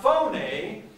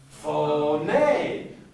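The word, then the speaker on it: φωνή: next word is not phone a this next word is what fo nay do you see the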